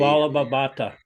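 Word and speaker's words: Vallabha Bhatta: Vallabhabhata.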